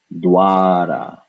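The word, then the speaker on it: द्वारा: So once again, we note that this is the followed by va. The is sitting on top of the va, and so this is pronounced dwara, dwara.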